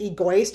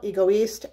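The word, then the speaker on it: Égoïste: if I'm wrong but he kept pronouncing it egoist and I was like that is Nails on my chalkboard then for a second now you know how you're like baby I'm maybe I'm pronouncing it wrong I'm not I know I'm not anyway this is Chanel ego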